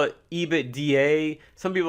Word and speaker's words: EBITDA: It's pronounced Ebitda. Ebitda. Don't call it EBITDA.